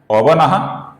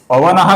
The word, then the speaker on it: पवनः: आगे भी पवनः का जो विसर्ग है, इसके आगे भी पावनः का प आया हुआ है, तो इधर भी हल्का सा फ ऐसा विसर्ग का उच्चारण हम करेंगे।